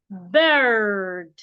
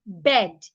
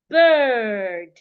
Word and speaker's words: bird: should be heard so an American person will say bird a British person will say bir why a Nigerian will say bed bed is wrong do not articulate it as a short sound articulated as a long sound bird bird well this